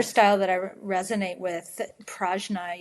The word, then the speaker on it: Prajna: And then the other style that I resonate with, Prajna Yoga, or accurately pronounced Pragnya, is a style that is out of Santa Fe, New Mexico.